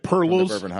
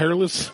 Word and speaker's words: Peerless: Like the Blanton's Gold episode, like Perlos instead of Peerless. Yeah, Perless. Perless. I'm like, Peerless.